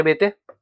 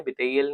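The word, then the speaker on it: Béteille: Andre बेते इनके बारे में बता चुका हूं ऑलरेडी यह बिल बिई नहीं है बिईल नहीं है यह बेते बी पीए बेते प्रोनाउंसिएशन होता है इनका आंद्रे बेते कास्ट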